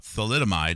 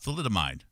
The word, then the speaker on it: thalidomide: as I showed yesterday in this movie about thalidomide, let's see if I can pull up my my YouTube page here.